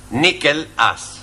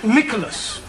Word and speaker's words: Nicholas: upon a time there was a man called Nikhil us once upon a time there was a woman called Nikken it's pronounced Nicholas sorry once upon a time there was a